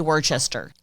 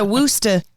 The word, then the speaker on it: Worcestershire: I say Worcester. Really? Julie, how do you say Worcestershire? Worcestershire? Wow. Ooh, she does a woosta.